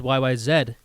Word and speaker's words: YYZ: more okay fantastic yes i said yyz because that's how they say in canada land and that is how